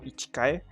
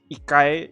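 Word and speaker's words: 一回: this mo that's why that's why it's more ikai not more ichikai because ikai is the way you pronounce one one one time or one one revolution uh i don't know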